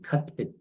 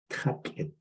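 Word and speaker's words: tátłʼid: Cut it means algae. Remember how you go on look at a pond outside in the summer, and you see some green inside it? That's algae. So how do you say algae? Cut it. Ta means water. Kai or ta. It means the leftovers that's in the water.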